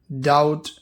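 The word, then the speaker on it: doubt: Example दिए हैं, कॉम मतलब होता है कंघी, चूम बी साइलेंट रहेगा, मतलब होता है कबर, डाउट बी साइलेंट रहेगा, उसका मतलब होता है शक।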